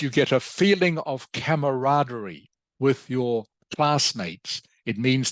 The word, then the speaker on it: camaraderie: okay it is pronounced camaraderie camaraderie can you say that please Vietnam good excellent camaraderie okay it is a French word as some of you might have guessed from the spelling it is a French